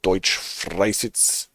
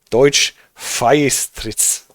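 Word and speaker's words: Deutschfeistritz: Inspector Pegau, Deutsch Freisitz. Frei. Deutsch Feistritz. Not Freis.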